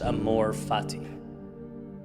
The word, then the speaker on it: amor fati: There's a Latin phrase pronounced amor fati.